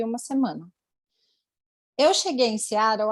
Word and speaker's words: Seattle: Para a gente no Brasil é Seattle, a gente está acostumado a ver assim, mas na pronúncia correta, Seattle, como ela tem citado.